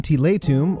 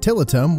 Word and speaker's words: Tiletum: out this overview in tilay Tomb or as many people will mispronounce it tillitum one to four players